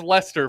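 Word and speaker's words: Leicester: Also, Lchester is pronounced Lester for some reason.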